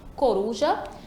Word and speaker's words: coruja: Então, primeiro a gente separa, coruja, e vamos lá chamar. Coruja, a mesma coisa, a tônica vai ser ali a ru. A penúltima sílaba.